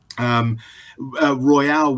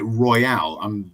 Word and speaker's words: Royal: Royale, when he first, sorry, I keep pronouncing it Royale. You know, because I've seen Pulp Fiction so many times that every time the word Royal comes along, I want to pronounce it Royale. For those of you who get the reference, so Royal, Emerson Royal. I thought it was Royale. I've always been saying it Royale. I've always said Royale as well, but someone